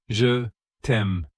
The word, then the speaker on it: je t'aime: It is je t'aime. Can you repeat after me? Je t'aime. Slowly, je t'aime.